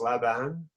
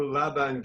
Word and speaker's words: Laban: Just tell me, this person in here, Laban, is it pronounced Laban?